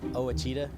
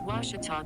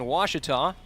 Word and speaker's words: Ouachita: ouachita sports digital network i've heard people say oh a cheetah oh wish tall oh a cheetah is it pronounced oh akita searching for washi at a baptist university back in texas everybody pronounces it wichita but really it's ouachita washington washington how would